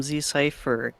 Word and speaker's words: Zcipher: Hello, I'm Zcipher. It is pronounced Zcipher. One way you can annoy me is by getting my name wrong. It's Zcipher everywhere there is internet. Literally decipher but with a Z, right?